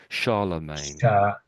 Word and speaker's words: Charlemagne: Charlemagne so I suppose we sort of say I know it's a C. You might think that's C or something, but it we sort of here we sort of pronounce as an SE sort of a sound. So sha, we say sha and then we say the main.